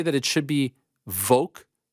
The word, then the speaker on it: Volk: That said, for the love of Frank's anonymity, it's Volk, not Volk. What do I say? The name Volkanovski has a very pronounceable L right there. You have no problem nailing when you say his full name. But when you refer to him by his pet name, you lose the L faster than Dean Thomas backstage after the Sarah fight.